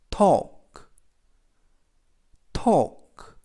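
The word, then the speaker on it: talk: 때 른 묵음 이고요 k 는 크 그래서 더 토 그 라고 발음합니다 뜻은 말하다 라는 뜻이고요 더블유 는 후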